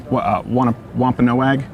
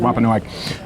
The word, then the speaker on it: Wampanoag: meal of Thanksgiving with the I think it's pronounced Wampanoag. Is that? Do you know? I want to make sure I'm getting that right. Wampanoag.